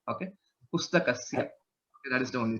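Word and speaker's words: पुस्तकस्य: Pustakasya, that's Sya. You'll have to improve on the pronunciation. It sounds like Shya, Pustakashya. Okay. Sakara should be clear. Okay. Pustakasya.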